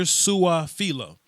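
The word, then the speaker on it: Su'a-Filo: Xavier Suafilo.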